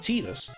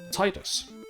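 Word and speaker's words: Tidus: So the question is Deffy what sideed pronunciation you are? Is it Titus or Titus?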